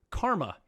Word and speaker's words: KA7M6: And this one comes to us from, I'm going to say his name right this time, Karma. So last time it's spelled KA7M6, but it's actually Karma.